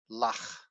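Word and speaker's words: לָךְ: And therefore the shiva at the end of a syllable and thus the end of the word is silent. You don't say it. Lach.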